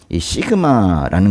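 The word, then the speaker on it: σίγμα: 이거랑 이제 비슷한 게 시그마라는 건데요. 시그마 스. 예. 스 발음이 나는데요.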